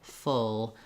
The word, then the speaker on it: full: can be very helpful finally words like full bowl and pull have the uh vowel I call this one the good book vowel and it's also in